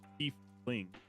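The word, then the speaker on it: tiefling: ancestors who originated there a t fling pronounced thief fling cool uh steepling chooses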